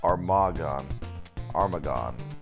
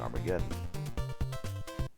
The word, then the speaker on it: Armagon: Oh, Armagon. Okay. I was almost pronouncing Armageddon.